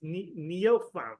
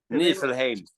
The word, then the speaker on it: Nifelheim: It's Nifelheim, right? Nifelheim.